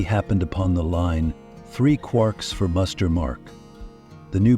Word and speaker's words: quarks: referred to these subhydrronic fragments as quarks rhyming with poor.